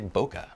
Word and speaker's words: bokeh: 17 of 40 and I probably should pronounce bokeh the right way which is Boke but uh I don't know I say it kind of quick so sometimes I just say bokeh forgive me all right